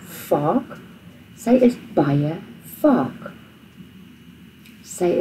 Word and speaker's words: vaak: Now remember, the V is pronounced as an F in Afrikaans, like vaak.